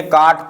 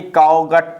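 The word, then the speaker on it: caught: क्या कहता है हमारा, CAUGST, क्या बोलेंगे, काट पढ़ेंगे इसे, क्या पढ़ेंगे, काट पढ़ेंगे, ना कि काउगट पढ़ेंगे, काउगट। कुछ लोग इसे पढ़ेंगे काऊ घट पढ़ेंगे, काउघट, काउघट हमारा ये गलत हो जाएगा, काट हमारा सही रहेगा, ठीक है ना।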